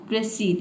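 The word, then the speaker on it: proceed: मतलब होता है देखिए यही पे स्टूडेंट गलत प्रोनाउंस करते हैं इसको हम प्रोसीड नहीं पढ़ते हैं ठीक है इसको पढ़ना है आपको प्रोसीड इसलिए मैंने यहां पे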